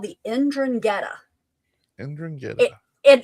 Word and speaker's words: 'Ndrangheta: They're called the 'Ndrangheta.